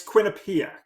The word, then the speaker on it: Quinnipiac: I'm not trying to spell it. Well, Yes. I'm sorry. It's Quinnipiac.